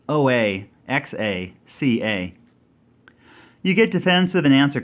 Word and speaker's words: Oaxaca: Or how do you pronounce O-A-X-A-C-A?